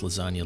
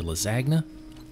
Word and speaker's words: lasagna: high school to use to pronounce lasagna lizagna just think about that man do do pronounce lasagna as if the g wasn't silent that's hilarious that's hilarious